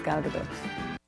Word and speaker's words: Gal Gadot: But yeah, my name is Gal Gadot. That's Gal Gadot.